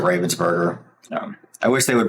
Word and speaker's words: Ravensburger: My understanding is Robinsburg is the correct way to pronounce it, but I'm an American so I pronounce it Ravensburgger.